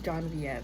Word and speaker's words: Genevieve: about the girl's name her name is john v and i remember it but it took me the whole book for that to stick because it's spelled genevieve for let's be honest it's spelled genevieve and the fact that it was pronounced john b it was really hard